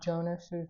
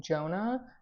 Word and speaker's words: Jonas: recording back and I realized that I um mispronounced um Jonas's name I was calling him Jonah but it's actually Jonas and so um I